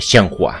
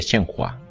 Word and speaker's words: Shenhua: Debería ver la colección del padre de Shenhua. O de Shenfa, como parece que se pronuncia en chino.